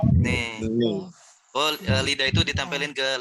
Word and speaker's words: 네: itu yang bacanya ne atau bacanya de ya? Bacanya ne. Ne. Oke. Kedengarannya kan de ya? Itu karena lidah orang Korea ketika huruf N itu dia nempel di langit-langit D. Nempel di gigi langit gigi atas ya.